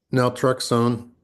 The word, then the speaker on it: naltrexone: Naltrexone.